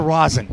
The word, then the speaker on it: rosin: What role will the resin, by the way, resin or rosin? Rosin. Rosin as opposed to resin.